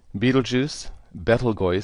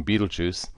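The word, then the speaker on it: Betelgeuse: the outside of Orion Beetle juu balgo properly pronounced but we give it the nickname Beetle Juice and Riel are two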